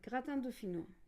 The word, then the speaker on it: gratin dauphinois: It's a gratin dauphinois.